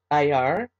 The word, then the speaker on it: Iyar: We are going to be bringing in a new Hebrew calendar month, and that is Rosh Chodesh Iyar. That's spelled I-Y-A-R, and we'll be doing that tomorrow.